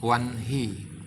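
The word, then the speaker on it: वह्नि: Kata yang ditulis Wahni diucapkan dengan Wanhi.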